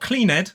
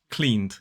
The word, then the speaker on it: cleaned: Clean becomes cleaned. Not cleaned, it is cleaned.